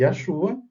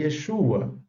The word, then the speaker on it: Yeshua: E a gente sabe que essas escritas Yahová, Yahoshua e Yahshua, elas não estão corretas dentro da língua hebraica. O hebraico preservou as pronúncias e as escritas claramente como Yehová, Yehoshua e Yeshua, não é?